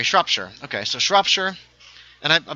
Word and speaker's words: Shropshire: All the shires are pronounced Shire. Sorry, Shropshire.